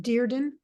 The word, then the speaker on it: Dearden: am talking with am I pronouncing your name right deerden yes okay who published